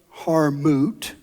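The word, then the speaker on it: Hartmut: And what Harmoot M O T is how you pronounce it says is that I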